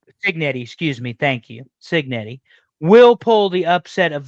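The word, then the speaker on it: Cignetti: rooting for Indiana I think that Kurt uh ketti I believe is how you say his last name Signet excuse me thank you cetti will pull the upset of the century and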